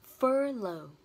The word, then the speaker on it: furlough: Cái từ tên là furlough. Furlough. Trọng âm rơi vào từ fur và nó là ơ dài, mình kéo dài âm ra nhé.